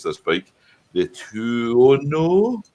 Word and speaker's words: Tuono: The Aprilia, and I always struggle to pronounce this bike. The Tuono. Tuono.